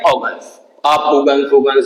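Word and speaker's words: Huygens: इसे प्रोनाउंस करते हैं ऑर्गन्स।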